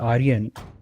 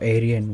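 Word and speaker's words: Eryen: It's called Arian or Aryan, whatever you want want to say. But it's written E R Y E N which made makes no sense.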